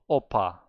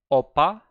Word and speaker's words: 오빠: Hyong, oppa. You are natalizing pa. You need to say it like B and make it more tense.